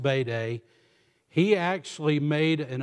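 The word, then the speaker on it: Bede: by the name of bayday it looks like bead it's pronounced bayday he he actually made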